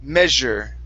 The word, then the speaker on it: measure: here this is me measure measure measur yeah so in this word the the S is a j sound okay um this word